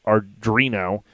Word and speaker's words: Arduino: I think I'm saying it right, Arduino. And it's an open source. Arduino.